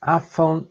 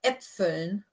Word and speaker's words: Äpfeln: is rock so nack afon und nussen. Well, I can get the last bit, but how is the pronunciation? Es roch so nach Äpfeln und Nüssen. Äpfeln, yes. Mm-hmm. Keep forgetting the umlaut.